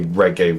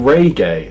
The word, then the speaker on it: reggae: No, you were saying reay as in r a y gay. Reay. Reggae is short.